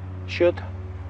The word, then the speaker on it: should: Should tiene una L que no se pronuncia. Decimos should. Take down, apuntar, tomar nota, descolgar algo.